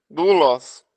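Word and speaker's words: δοῦλος: Doulos. Pois é, doulos. Tá vendo, ó? É a sua pergunta, ó. Ômicron e Y. É um ditongo. Mas ele vai ser pronunciado como se fosse U.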